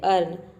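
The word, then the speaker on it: earn: लर्न में EA को हम अ प्रोनाउंस कर रहे हैं, तभी इसका प्रोनाउंसिएशन हो रहा है लर्न। उसी तरह से है अर्न।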